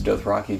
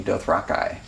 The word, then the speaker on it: Dothraki: He pronounces Dothraki, Dothraki.